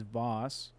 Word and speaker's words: vase: Okay, so I guess the English pronunciation is Voss.